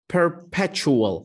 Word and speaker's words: perpetual: أنا أشوف هاي الكلمة تلفظ perpetual، فتلفظ chual. فعندي كلمات تشبهها مثل punctual، يعني شخص ملتزم بالوقت، حدي بالوقت.